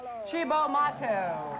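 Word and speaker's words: Cibo Matto: I think you pronounce it Chibo. Here is a band I don't just like, I love. Chibo Mato.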